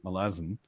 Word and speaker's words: Malazan: is things from melas so pronouncing it Malazan is like pronouncing it American I'm pronouncing it Malazan would be like pronouncing it American or Canadian or Australian um so once I realized that because I heard Stephen Erickson say melasin um I was like